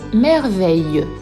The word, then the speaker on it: merveille: Dans le mot réveil et dans le mot merveille. Dans le mot merveille, le son eille s'écrit E-I-2-L-E et nous entendons eille, comme dans une abeille.